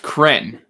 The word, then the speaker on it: Kren: love i think so his name is pronounced kren that that's how i pronounce it i actually i i